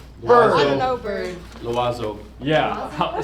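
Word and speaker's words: l'oiseau: Loazo. Yeah, spell it.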